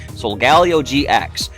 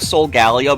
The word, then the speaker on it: Solgaleo: I go with Solgaleo because it sounds like Sol for solar, Galio for galaxy, and Leo, so Solgaleo.